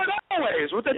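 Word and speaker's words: Alvvays: And by the way, I think they pronounce their name Always, even though they spell it A-L-V-V-A, which is very stupid.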